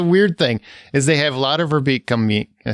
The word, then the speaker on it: Lotte Verbeek: So there's the weird thing is they have Lotte Verbeek come meet. Can I say her name right? Yep. Lotte Verbeek.